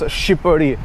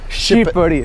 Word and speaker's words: Shqipëri: Because really Albanians like try to pronounce Shqipëri. Okay. Shqipëri. Shqipëri. Yeah, we don't have S, but we have S and H, and together make Sh.